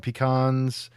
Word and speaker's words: pecan: In jolly old England, Carrie Brown, is it pronounced pecan, or pecan? Pecan. It's pecan. Okay, so now we got a 5th pronunciation. In the United States, it really depends on where you are. I've always pronounced them pecans, but apparently in the great state of Texas, they don't like that sort of thing.